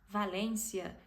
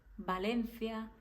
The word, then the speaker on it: Valencia: países que falam espanhol eles pronunciam a letra V como letra B existe sim algum país que pronuncia com v normal do do jeito que a gente fala no Brasil mas a maioria não pronuncia desse jeito jeito pronuncia como letra b então palavras que a gente falaria como Valência Vigo Vitória essas palavras em espanhol seri pronunciada com a letra B Valencia Bigo Victoria Victor então nunca pronuncie